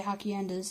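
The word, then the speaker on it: haciendas: these rural states or ha ha kyun does I'm gonna say Hokkien des it's spelled AJ CI en das providing primarily for consumers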